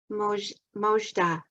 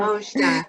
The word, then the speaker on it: Mojda: Mojda. Did I say it right? Yes, Jana. Mojda.